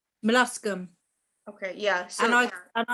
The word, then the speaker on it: Molluscum: in the past, I'm not very good at pronouncing it. Is it melonium? It's like that virus. Is it called melonium or something? Begin with M. Molluscum.